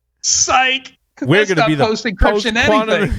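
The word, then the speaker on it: SIKE: be honest anyway because it's way easier to say psych than s-i-k-e so so was it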